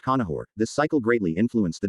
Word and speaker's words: Conchobar: court of his uncle Conchobar pronounced Conahor.